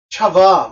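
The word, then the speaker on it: חַוָּה: 근데 그거를 그러니까 헬라가 아니라 히브리 말로 하면 그 발음이 이브가 아니고 차바 이렇게 돼요.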